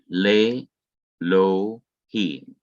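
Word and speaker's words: לֵאלֹהִים: I go straight past the aleph and whatever was underneath it. So I say lay, and I resume again right here. Lohim, lay, I bypass this, I don't pronounce it. Lay, lo, him, lay, lo, him.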